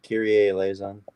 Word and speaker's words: Kyrie Eleison: Oh my God, it's Kyrie Eleison, I like Broken Wings, but Kyrie, how do you pronounce it? Kyrie Eleison.